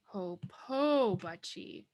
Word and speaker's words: hopobachi: So now our pronunciation is hopobachi, hopobachi.